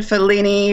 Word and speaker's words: Figline: is it in and that's in felini v but it's spelled like figline f i g l